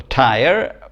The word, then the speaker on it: tire: The E on the end, the silent E, is a spelling convention. Like if you've got the silent E, it makes the preceding vowel say its name, which I've always found fascinating. So the preceding vowel is I, so in tire it's I-er, tire, right, very good.